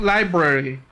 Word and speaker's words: library: But personally, I pronounce it library because it has an R in the word.